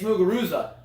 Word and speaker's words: Muguruza: I'm sorry Gardein muga Ruth suck or it's muguruza sorry for everyone that has now jumped on